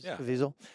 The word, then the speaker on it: Caviezel: Caviezel? Caviezel.